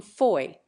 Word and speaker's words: Fowey: The former hailed from Plymouth, the latter from Foy, or, as we spell it nowadays, Fowey.